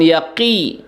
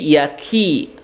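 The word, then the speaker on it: يكيدون: Ki-nya kaf ya. Jangan yaqi, tapi yaki. Kaf.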